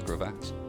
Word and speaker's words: crevasse: It's called a crevasse. I don't know. Some people might call it a crevice as well, but that's a different word.